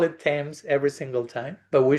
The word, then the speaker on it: Thames: Thames. You pronounce Thames.